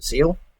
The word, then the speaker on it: Zexal: Zexal series, or as it's properly known to as Yu-Gi-Oh! Zeal, but people pronounce it with the X.